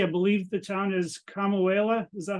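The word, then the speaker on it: Kamuela: out on Hawaii I believe the town is kamauela is that how you say it Blake yeah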